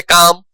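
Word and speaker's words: calm: जैसे काम जैसे चौक, जैसे वॉक, जैसे आर्म, है ना? पाम इन सारे वर्ड्स में एल जो है वो साइलेंट होता है।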